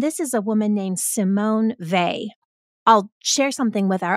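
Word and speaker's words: Simone Weil: Kate loved and this is a woman named Simone vay I'll share something with our audience that I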